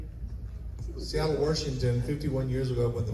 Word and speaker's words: Washington: Seattle, Washington. 51 years ago. Went to the military and never went back. Washington. Washington. Washington. Yeah. I don't say Washington. It's Washington.